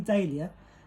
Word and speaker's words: dahlia: Some people incorrectly pronounce it dahlia, but it's actually dahlia because it represents the flower dahlia.